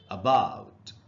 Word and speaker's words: about: तो देखिए ट्रांसक्रिप्शन में के हिसाब से इसको हमको पढ़ना चाहिए अबाउट, अबाउट, यानी जो पहला ए है स्पेलिंग का, उससे आधा अ का साउंड बन रहा है, और हिंदी में भी